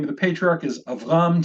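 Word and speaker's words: אברם: of the patriarch is avram two syllables preceded by a short vowel rendering the schwa to be silent now I want to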